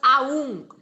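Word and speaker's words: ॐ: pergunta ah prab pada fala que om é composto das sílabas aum o senhor pode comentar sobre isso sim sim é e eh o o em sânscrito foneticamente ele é uma combinação de a mais u é como no francês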